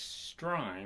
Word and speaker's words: Strein: A very special guest from Madisonville, Kentucky, Miss Strein. I want to make sure I pronounce that right. It's like Stein, but more aggressive.